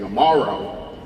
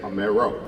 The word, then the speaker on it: Amaro: So instead of saying amaro, I'd say amo.